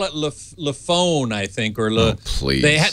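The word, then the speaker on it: LeEco: then L EO or Leo Leo is how it's pronounced yeah weird you tell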